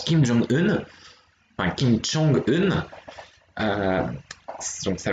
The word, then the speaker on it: Kim Jong-un: se prononce de la même manière, il se prononce Kim Jong-un, enfin Kim Jong-un, donc ça va être le président de la République populaire démocratique de Corée, donc Kim Jong-un.